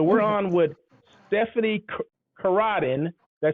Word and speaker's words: Coradi: on with Stephanie Karadin.